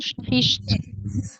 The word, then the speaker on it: sprichst: Difficult to pronounce. Sprichst. Sprichst. So you touch the back upper part of your mouth with the tongue in the back, and then afterwards you have the st in the front.